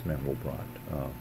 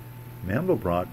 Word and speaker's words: Mandelbrot: Mandelbrot pronounced it Mandelbrot when he was speaking in English, hanging around the United States. When he was speaking French or Flemish, French, I think, he would pronounce it Mandelbrot. At least that's what I've read. So you can't go wrong. Either way is right, if my sources are correct.